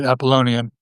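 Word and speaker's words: Apollonian: The appalinian being Nisha's pronunciation and spelling. By the way, uh most people say appalonian, but I'll use Appalinian in in uh recognition of Nietze.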